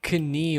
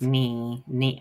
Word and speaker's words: knee: I've not been saying kani or something like that, but like the K at the start for a while at least, it always felt like it influenced the beginning of the word.